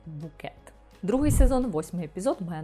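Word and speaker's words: Bucket: альпіністка середнього класу гіацинт бакет яка наполягає на тому щоб її прізвище вимовлялося Як букет другий сезон восьмий епізод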